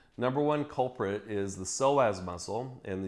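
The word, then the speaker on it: psoas: one culprit is the soaz muscle and you spell that PS o a silent P silent P just like p and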